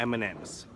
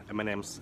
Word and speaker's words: M&M's: Не M&M's, а M&M's. Как рэпер M&M. M&M's, M&M's, M&M's.